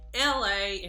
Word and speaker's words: Elhae: it's going to be Mr LA and that's spelled e l h a e every life has